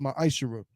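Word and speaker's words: מעשר: In Hebrew, it's pronounced ma'ashera.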